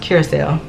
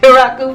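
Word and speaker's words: Curaçao: YouTube that I saw like, oh, it's actually pronounced Curacao. But I had been calling it Curacao for like weeks, okay?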